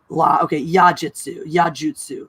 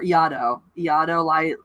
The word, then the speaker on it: Iaido: Lido, that's the one I've heard, or Iaido. I think it's Iaido. Yeah, I've heard it as Iaido before.